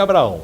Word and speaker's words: Abraham: novo ministro da Educação, o Abraham Weintraub, a pronúncia do cidadão é isso aí. Ele disse que é Abraão, né?